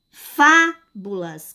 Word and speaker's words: fábulas: Ó, veja bem, fábulas, fábulas. Qual é a sílaba que eu faço, que eu falo, que eu pronuncio com mais força, com mais intensidade? Qual é? Fábulas. É a sílaba fá.